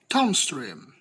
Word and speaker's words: downstream: The primary stress is placed on the second word, while the secondary stress on the first word. The example of this such as downstream.